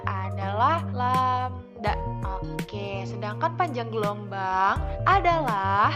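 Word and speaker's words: lambda: seperti yang ada di dalam kurung nah ini dibacanya adalah lamda Oke sedangkan panjang gelombang adalah jarak antara pusat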